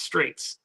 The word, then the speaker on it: Strejc: Last name is pronounced Straits.